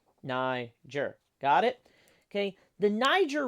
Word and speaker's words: Niger: are thinking this but this is how you pronounce it Niger say it with me Niger Niger got it okay the Niger River as you